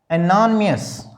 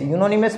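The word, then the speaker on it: anonymous: इस शब्द को देखो, एनोनिमस, एनोनिमस। यूनोनिमस मत बोलना, ये तो उच्चारण का महत्व है।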